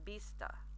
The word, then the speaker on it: vista: vista hasta LaVista so remember your Bista hasta la vista there's a very soft B sound hasta la vista and